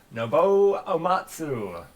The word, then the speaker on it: Nobuo Uematsu: I might butcher the pronunciation, but who is Nobuyo Uematsu? That is correct. Nobuo Uematsu.